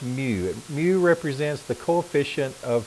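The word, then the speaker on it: μ: have these symbols so this symbol is pronounced mu mu represents the coefficient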